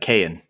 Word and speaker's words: Kayan: no problem it's uh kayan can can i'm rory nice to meet you i'm hank good to meet you hank how do you spell kn k-a-y-a-n oh got it it's spelled like it sounds nice right do you